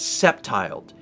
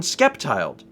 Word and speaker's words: Sceptile: Oh, Scepter is pronounced SC like Scepter, not Skepter. Your name is Sceptiled. It's not even Skeptiled.